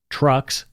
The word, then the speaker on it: Truxx: On October 22, 1977, Montreal police conducted raids on two prominent gay bars, Trucks, that's spelled Truxx, and Le Mystique, located in the city's gay village.